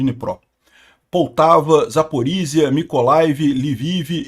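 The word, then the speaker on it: Dnipro: Sumi de Nipro, eh de Nipró, pronúncia de Nipró, Poltava, Zaporíia, Mikolai, Livive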